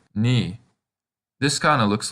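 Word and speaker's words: に: Can you guess how it's pronounced? That's right, ni.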